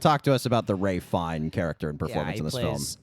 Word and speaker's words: Ralph Fiennes: It is not Ralph Fiennes. It is Ralph Fiennes.